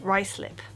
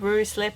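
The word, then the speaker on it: Ruislip: one have a guess this is pronounced rice lip not R lip or anything like that just rice lip it's on the central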